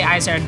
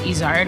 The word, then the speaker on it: Izard: with my last name which I say isard but in French it's isard which is a mountain goat that lives in the